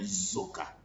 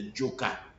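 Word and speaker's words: Dzoka: zoka, they are calling zoka. They are not calling we call it Jo, because the word actually starts with DZO, but people cannot pronounce the Jo, so they say Zo.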